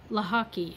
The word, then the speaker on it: Lochocki: And then Lochocki is spelled, not at all how it's pronounced.